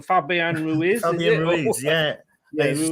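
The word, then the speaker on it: Fabián Ruiz: You actually then came up and picked somebody, and you've gone for Fabian Ruiz. Yeah, I pronounced that totally wrong. Fabian Ruiz.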